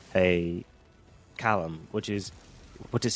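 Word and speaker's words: xalam: This is he was playing an instrument called a callum which is which is spelled X A L A M.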